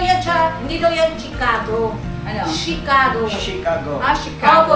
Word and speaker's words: Chicago: siya hindi daw yan chicago ano chicago chicago ah chicago opo nabasa ko na din sa comment ang pag-pronounce daw ng chi doon sa ano is she e dito kasi sa